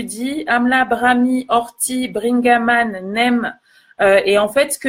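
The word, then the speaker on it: neem: Vous avez la poudre de NEM aussi, N-E-E-M.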